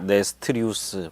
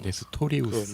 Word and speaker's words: 네스토리우스: 네스트리우스 파. 예. 네스트리우스라는 네. 그 당시 그 초대교회 한 교부의 네. 그 신학적 주장을 네. 추종하는 사람들을 네스트리우스파라고 했습니다. 발음을 정확히 하면 네스토리우스. 네스토리우스.